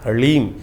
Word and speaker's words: ह्लीम: बीज मंत्र है, ओम ह्लीम। ह के पैर में र है, फिर उसमें साथ ही में ल लगा हुआ है और ऊपर से बड़ी की मात्रा बिंदी, ओम ह्लीम।